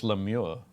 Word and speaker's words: lemure: I'm sure it's Lemure. Lemure.